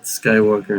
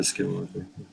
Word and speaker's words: skinwalker: And Skywalker instead of Skinwalker.